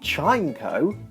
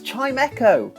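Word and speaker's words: Chimecho: for years and I feel stupid it's not chimco it's chimo because Chimes Echo FL did you know that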